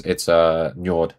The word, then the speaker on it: Njord: Oh, sorry, it's not flag. It's Njord. I was almost done. I got the name wrong. I tried. There we go. Njord is right here.